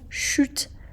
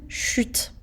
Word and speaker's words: chute: Faites très bien attention à la prononciation du mot chute. Donc on a la lettre U, une chute de neige, qui veut dire la quantité de neige qui tombe du ciel.